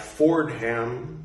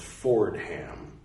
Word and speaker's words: Fordham: affordable Fordham University but it's spelled Fordham like Ford followed by him anyway Fordham University the